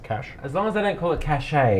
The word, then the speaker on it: cache: It's a cache.